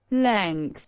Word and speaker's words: length: bien dire longueur et ça se prononce lines lines la lynx quand la bestiole